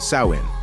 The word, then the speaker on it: Samhain: to the ancient Celtic Festival of Sam Hae pronounced sawin which marked the end of the harvest season